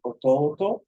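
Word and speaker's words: 弟: that's going to be Orton so a long o short o long o short o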